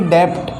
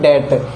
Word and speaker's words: debt: ऐसे ही डेप्ट, डेप्ट पढ़ा जाता है इसको, लेकिन ये सही में इसका उच्चारण क्या होता है? डेट, DEBT, डेट, डेट यानी ऋण।